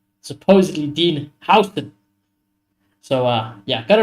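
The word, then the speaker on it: Huijsen: they can confirm that we have got Dean House. That is how you pro that is how he prefers you pronunciate his name.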